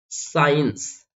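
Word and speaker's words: science: example के लिए देखिए साइंस साइ यहां पर देखो एस के बाद सी आया तो सी को नहीं बोलेंगे ड साइ बो ओके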